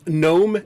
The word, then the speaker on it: gnome: be clever here um gnome is spelled n-o-m-e and general is spelled n-e-r-a right so it's like no because you don't pronounce a g and then you do